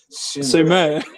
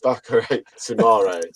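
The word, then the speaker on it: Boubakary Soumaré: Sumer. Sumer. Sumer. I was like, oh, no, boys, it's Bakare Sumare.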